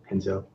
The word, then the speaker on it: Renzo: Yeah, that's how they pronounce it, the Brazilian with the R.